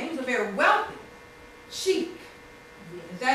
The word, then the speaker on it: sheikh: He was a very wealthy sheik. Is that how you say it? Sheikh.